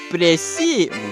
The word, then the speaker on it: précis: How to pronounce it? Google, go. précis. No shot. That's not how it's spelled at all.